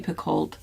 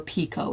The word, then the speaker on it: Picoult: Jodi Picoult, I never say no to, or Pico is, I think, how you're supposed to say her name.